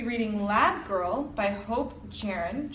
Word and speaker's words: Jahren: Next month's book, we're going to be reading Lab Girl by Hope Jahren? [questioning pronunciation] - I think it's "yar-en." I think she's Swedish, Scandinavian so the J is usually like Y.